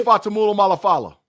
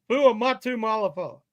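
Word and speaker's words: Fuamatu-Ma'afala: Chris Fatamula Malafala. Shannon, tell him how to say it, Shannon. It was Chris Fuamatu Malafala.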